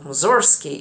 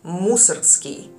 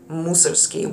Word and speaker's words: Mussorgsky: pronunciation because it's not mzori it's musi musi with a stress on the first syllable not the second second one and actually